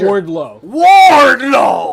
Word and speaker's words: Wardlow: No, you're mispronouncing it. It's Wardlow.